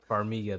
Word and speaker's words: Farmiga: Farmiga, that's how you say it.